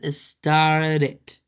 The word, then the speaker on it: started: Remember remember, if a verb in past has the letter D as in David or T as in trash before, it means that the letter E is going to be pronounced.